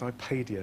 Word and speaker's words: ipadio: all phones equally and my company name is pronounced ipadio with the soft a uh we happen to